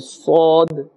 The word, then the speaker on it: ص: So Sin has a harder sound and Sad has a little more gentle sound.